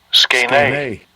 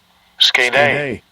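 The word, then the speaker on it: σκηνή: In the Greek, it's pronounced Strong's G4633, Skene. Skene.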